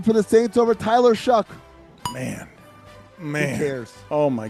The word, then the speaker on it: Shough: Spell your name right or pronounce it right. One of the two. How does he spell it? I shouldn't have to. He spells it Shough, but I have to Google how you say it.